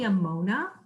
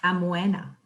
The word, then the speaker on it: Amoena: Hi everyone, it's actually Amona, and if you're in Europe, it's pronounced Amoena, and it's a Latin word to mean the lovely, the beautiful.